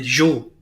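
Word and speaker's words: Zhou: of steam and they are replaced by the Jo z h o u the Z and they're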